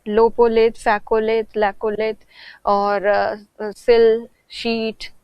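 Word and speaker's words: lopolith: में और पीपीटी में लोपोलिथ होगा वो लेपोत नहीं है लोपोलिथ इंग्लिश में तो स्पेलिंग सही लिखा हुआ है नोट्स में या पीपीटी में लेपो लिथ लिखा हुआ था तो उसको लोपोलिथ कहते हैं बेसिकली लोपोलिथ तो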